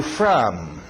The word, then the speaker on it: from: Where are you from? Where are you from? Esse O do from aberto. From.